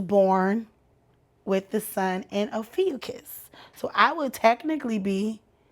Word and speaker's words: Ophiuchus: We'll get into it, but it is called the Ophiuchus.